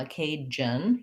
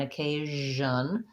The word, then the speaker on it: occasion: my voice is on so this is a challenging sound for arabic speakers you might have a tendency to do that more like the j sound and you want to avoid that you don't want a cajun you want occasion so the sound needs to continue but not have any pushed out air occasion we have the schwa